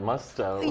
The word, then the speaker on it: Musto: and celebrities welcome Michael thanks for saying my name right Musto yes so I don't mind moussed oh I really don't know okay it's not very continental yes I have to